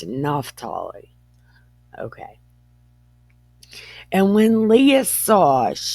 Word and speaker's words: Naphtali: I don't remember if this name becomes Ne, because Naphtali is how I've heard it pronounced, and that's Ne. But this is Naphtali, or Naphtali. No, it's Naphtali.